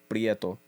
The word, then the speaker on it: Prieto: i e t o all the puos know how to say prto prto prto you got to you can't say it like to like Super Mario esque like PR I kind of said that didn't I so you got to say it very like either from the island or on some chill [